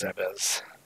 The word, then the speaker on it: Zebes: Picking up items all across Zebes. Yes, that is the correct pronunciation.